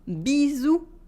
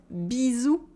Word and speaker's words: bisous: Repeat after me, bisous, with a Z sound and a silent S, bisous. Again, bisous.